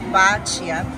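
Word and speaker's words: Bacio: I pronounced it wrong, it's Bacchio.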